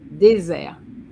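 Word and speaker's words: désert: Desert. Okay, Rihanna. Deser. You agree? Madame desert. Desert. Okay. The T silent.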